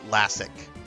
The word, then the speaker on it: Lassic: I prefer Lassic, which is how it's pronounced and spelled in the Master System, or the English version of the Master System game.